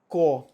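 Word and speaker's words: corps: Core. It's not corp, it's core. It's core. P is silent.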